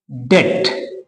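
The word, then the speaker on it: debt: okay ये देखिए दूसरा यहां भी टी से ठीक पहले बी है डेट डेट बी को आप खा जाइए डेट है ना और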